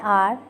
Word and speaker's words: hour: Exemptions: जैसे when the consonant H is silent. For example, an hour, an honor.